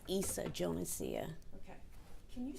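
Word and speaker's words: Yssa Jonesia: It's Issa Jonesia. Okay. Can you spell that for our court reporter?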